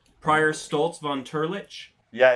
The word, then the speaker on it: Turlitch: we might as well modify that last word that last part of the name so it is uh much easier to pronounce because i feel like turles has cannot possibly be the way that this is supposed to run off the human tongue how about turlich turlich that's good prior stoltz von turlich